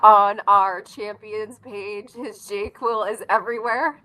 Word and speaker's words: JQL: He's team jQuil and you can see that in the confluence screenshot that you have.